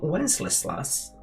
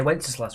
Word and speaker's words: Wenceslas: Which feast was it when good King Wenceslas looked out? That was too many L's. I mean, you had to go at me for mispronouncing a niche pioneer medicine person. You couldn't even say Wenceslas right.